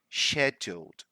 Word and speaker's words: scheduled: just a remark here did you notice how I pronounced this wood here sheduled so that would be British pronunciation right well some British people did the younger ones they are pronounce is scheduled - but that would be the American Way right that is a